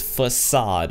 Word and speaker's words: Facade: before we go any further the way you pronounce this map is facade all right I've been mispronouncing like crazy I've